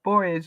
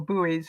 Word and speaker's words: buoy: There are buoys or buoys, depending on how you pronounce it, where you live.